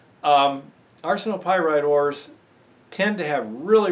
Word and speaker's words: arsenopyrite: assay result arsenic RC nope I'm sorry arsenopyrite ores let's pronounce it properly arsenopyrite ores tend to have